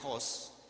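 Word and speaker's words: ὅς: se le puso Dios es no es Host pronuncia Host y significa dice incluyendo el femenino G y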